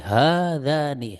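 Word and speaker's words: هذان: Sama juga ini hadzani. Ha di sini dua harokat. Za juga dua harokat. Hadzani bukan hadzani bukan ya, tapi hadzani.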